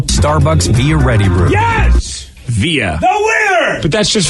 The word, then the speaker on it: Via: Via.